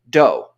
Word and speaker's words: Do: name he'd go by Doe spelled d-o but pronounced doe and there wasn't ever